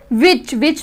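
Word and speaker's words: which: विच में भी जो H है वो साइलेंट है, विच बोला जाता है।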